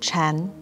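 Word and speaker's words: 禪: parent and child zen in mandarin chinese sakata and zen are both pronounced chan wu uses sakata as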